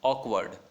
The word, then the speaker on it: awkward: और ऑकवर्ड है यहाँ पे, उसमें आर हम प्रोनाउंस नहीं करते हैं, ये आपको पता होगा, आर को प्रोनाउंस नहीं किया जाता है, ऑकवर्ड.